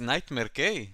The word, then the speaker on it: NightmareK: boys yes yes oh okay you know you pronounce my name correctly it's nightmare K my friend well well done good good um